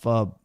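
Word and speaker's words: pho: hitting some foe right now. Damn, the foe sounds pretty good. I haven't had that in a while. Oh, it's pronounced fub. Sorry, said that wrong.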